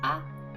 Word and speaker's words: 合: The third kanji is pronounced a, and the last character is the hiragana for u.